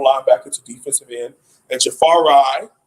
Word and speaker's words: Jafari: to defensive end, and Jafari, found out that's how you're supposed to pronounce his name, Jafari Harvey on the weak side defensive end, number 12 for the Miami Hurricanes.